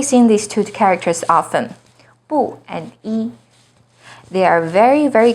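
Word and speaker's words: 不: very very common but you may notice that their tones change when they come before certain words for example is the second rising tone in but it's the fourth falling tone in buhao e as in number one is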